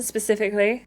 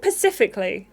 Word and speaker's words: specifically: Did she say pacifically? Hope reckons she and Noah should have it. Wait, Hope? Did you just say pacifically? Like the ocean. That's how you say it. Mate, it's Specifically.